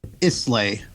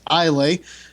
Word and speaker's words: Islay: Oh, no, I'm sorry, pronounced Islay. I'm sorry, I did not mean to mispronounce your name. Please do not be offended. Islay Mist, I guess. Named after a Scottish island of whiskey-producing fame.